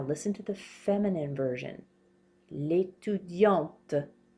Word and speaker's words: étudiante: L'étudiante. We pronounce this T now. Did you hear how I was not pronouncing it here? L'étudiant. L'étudiante.